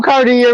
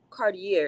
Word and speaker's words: Cartier: you know what makes it even more sickening is that Cartier, first of all, it's not even pronounced Cartier. It's Cartier.